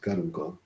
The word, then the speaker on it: caruncle: This caruncula or caruncle, it's pronounced caruncle, caruncle.